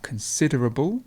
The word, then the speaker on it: considerable: consider then we have considerable the stress is here so we have consider and then we have considerable and then we have consideration